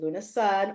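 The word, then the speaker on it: Lughnasadh: And then Jonathan Daly and I, on August 1st, Lunasad or Lunasa, however you want to pronounce it, him and I will be doing a live painting session.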